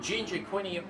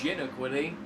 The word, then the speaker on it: Gina Quinny: He's got Ginger Quinny up ahead. I just realized I've been saying Ginger Quinny the entire time. It's Gina Quinny.